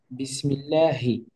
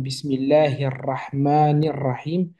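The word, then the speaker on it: بسم الله الرحمن الرحيم: en termes de sonorité, lorsque je prends le H à la française, bah, bien évidemment, il n'émet pas de son, alors qu'en arabe, ici, on a plutôt un Ha, Bismillahi. Et bien sûr, après, on a des liaisons qui se forment, Bismillahir-Rahmanir-Rahim, à chaque fois des ponts qui se créent comme ceci.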